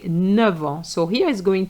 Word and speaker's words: neuf: des os neuf which is brand new So here it's an adjective. So you're going to say neuf. You're going to pronounce the F But if you have